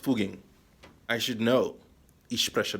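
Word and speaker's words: Fugging: among other things and by the way it's pronounced fuging I should know ish pressure Deutsche I Envision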